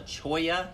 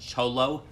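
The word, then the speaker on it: cholla: climbing a particular kind of cactus called a Choya cactus that's spelled like it would be pronounced cholo but soya cactuses are super super prickly you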